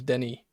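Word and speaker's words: Denis: It's Dennis Bouanga. I keep calling him Dennis. I know his name is Denny. I keep pronouncing it Dennis, and I apologise.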